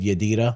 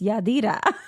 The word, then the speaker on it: Yadira: That's good, Yadira. You say my name weird. Why do I say your name weird? Because it's Yadira and you like Yadira, like you change the A's.